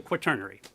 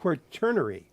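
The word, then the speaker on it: Quaternary: time periods and we were the fourth the quturnary. So, oh, and I was pronouncing it wrong, too. So, I should have looked that up before. Quernerary.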